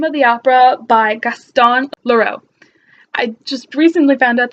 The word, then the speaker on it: Leroux: the opera by gaston leroux I just recently found out that the X is not pronounced in French so it's clear oh this